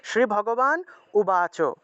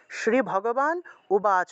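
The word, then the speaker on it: শ্রীভগবানুবাচ: সন্ধি সন্ধিযুক্ত শব্দ থাকে আমরা সন্ধিযুক্ত শব্দটাকে সন্ধি বিচ্ছেদ করে আমরা উচ্চারণ করব স্পষ্ট করে শ্রী ভগবান শ্রী ভগবান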